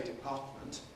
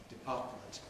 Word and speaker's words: department: It is perfectly possible to say department with an alvola t nasally released department that is now rather an old-fashioned and certainly a very careful pronunciation department.